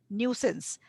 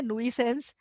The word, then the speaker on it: nuisance: न्यूसेंस, अब ये spelling है नुइसेंस, पर इसकी प्रोनाउंसिएशन है न्यूसेंस, ठीक है, न्यूसेंस है, ठीक है।